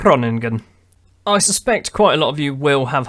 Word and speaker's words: Groningen: it it's wrong again it's not groaning good it's running good I suspect quite a